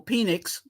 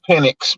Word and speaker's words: Penix: away from saying Michael penix CA you know that that that that's too close to penis yeah switching that X to an S it's pinic but okay see but people